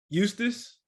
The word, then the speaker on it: Eustis: How do you pronounce the name of your city? Eustis. Eustis.